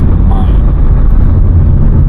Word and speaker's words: Main: itself is the main, or in German language, its pronunciation is mine.